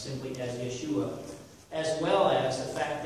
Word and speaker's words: Yeshua: you're stumbling over the pronunciation the way we pronounce it, which is plain and simple Yeshua, go read that document, and there's 30 verses of scriptural proof as to why it's pronounced simply as Yeshua, as well as the fact that he is